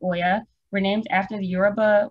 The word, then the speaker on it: Oya: It's pronounced Oya.